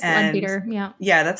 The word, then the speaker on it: Leadbeater: I think it's Leadbeater, yeah. Yeah, that's how she pronounced it yesterday.